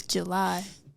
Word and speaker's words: Jelie: I know it's spelled weird, but I'm telling you, it's July.